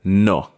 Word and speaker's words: nuh: The first word we're going to look on in how we negate is the word no. Not na, which is a common mispronunciation by people who are learning Jamaican, but no.